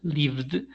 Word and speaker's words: lived: In this case, d, lived, because we join by vibration sounds with vibration sounds, something we studied in session number 1, I guess.